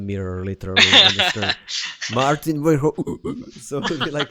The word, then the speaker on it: Maarten Verhoeven: I really enjoyed the talk with you, Maarten Verhoeven. Did I pronounce it good? You did it in the English way, but yeah. Okay, let's try it one more time. Maarten Verhoeven. Yeah, close enough.